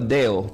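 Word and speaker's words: δέω: Diga conmigo, deo.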